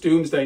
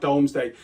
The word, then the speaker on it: Domesday: not know that and it is pronounced doomsday not domesday as we readers we